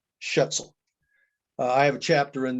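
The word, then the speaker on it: Schaetzl: michigan and his last name is spelled s-c-h-a-e-t-z-l shetzel i have a chapter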